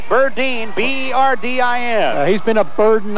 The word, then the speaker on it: Berdine: lead Ron berdine now his name looks like it's pronounced Burton but it's Burdine b-e-r-d-i-n he's been a